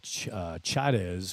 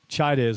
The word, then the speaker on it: Chaidez: But that is Alan Chaidez was close to how he pronounced it to me. That's Chaidez wearing number 20, so my apology there.